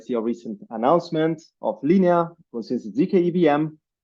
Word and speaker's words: Linea: advocate for Linea and you did pronounce it correctly so you obviously know uh